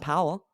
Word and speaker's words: Powell: and they're like well col and Powell and I'm like oh yeah it's not pal it's that's true that's